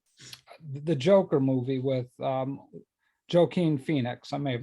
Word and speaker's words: Joaquin: it from the the joker movie with um joaquin phoenix i may have mispronounced his name joaquin joaquin thank you randy that's why you get